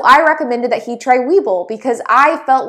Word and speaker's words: Webull: So for those of you who aren't familiar with Webull, Webull is an app and it's spelled W-E-B-U-L-L, like a bull, like an animal.